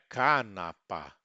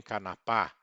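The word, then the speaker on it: kanapa: Sempre aberto, som aberto e sempre paroxítono, ou seja, sempre uma sílaba antes da eh do final. Então, são paroxítonas. Temos que nos lembrar disso sempre, não é canapa, nem canapá. é canapa, mama, tata, baba.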